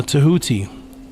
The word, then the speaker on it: Thoth: There is your origin writingwise of what people are calling Thoth today properly pronounced uh Tahuti again 2400 BC these